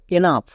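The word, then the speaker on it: enough: Next এনাফ, এখানেও দেখো শেষে জিএইচ আছে, জিএইচ থাকার জন্য এবং তার আগে ও ইউ থাকার জন্য জিএইচ এর উচ্চারণ ফ হবে।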